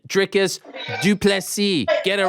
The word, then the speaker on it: Du Plessis: Dricus Du Plessis. Get it right. Get it right. Du Plessis, the S is silent.